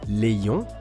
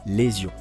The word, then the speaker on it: ions: Ultime remarque sur la prononciation, la première lettre du mot ion est une voyelle, c'est I, donc il faut faire la liaison. Merci de ne pas dire les ions, mais bien sûr, les ions.